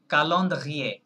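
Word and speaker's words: calendrier: ফেলবো আচ্ছা ফ্রেঞ্চরা তাহলে ক্যালেন্ডারকে কি বলে বলেন কালন্দ্রিয়ে কালন্দ্রিয়ে ইয়েস সি এ কা এল ই এন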